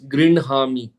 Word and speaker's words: गृह्णामि: So there is a rule which says that Okay. If the hakara is followed by a vargiya last letter, All right. Fifth column. then fifth column, then that letter is pronounced first, and then the hakara comes later.